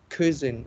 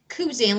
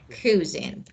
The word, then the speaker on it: cuisine: But teacher, how we read it, this word is cuisine or cuisine? No, it's not key. It's not cuisine. Let me write actually the pronunciation. So maybe okay, this is cuisine.